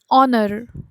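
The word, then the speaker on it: honor: ये जो सारे एग्जाम्पल्स है इसमें जो है एच साइलेंट है. एन एयर, एन ऑनर.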